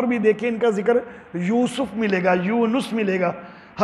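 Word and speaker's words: یوسُف: ٹھیک نہیں ہے، داود۔ حضرت یوسف کو بھی ہم یوسف بول دیتے ہیں، سین کے اوپر زبر بنا دیتے ہیں، حالانکہ یوسف لفظ ہے، یوسف نہیں ہے۔ یونس کو ہم یونس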